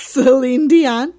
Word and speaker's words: Celine Dion: Celine Dion.